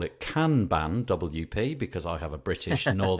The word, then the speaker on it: Kanban: British English would say Kanban and the the proper Japanese pronunciation I think is Kanban very staccato but nobody nobody nobody